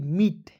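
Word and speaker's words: meet: है मीट ठीक है एम डबल ई टी क्या हो जाएगा मीट ओ यू आर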